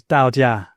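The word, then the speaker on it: 道家: So for example, Taoism, sometimes spelt Taoism, well, that's the dominant spelling, actually is pronounced in Chinese Dao Jia, Dao with a D.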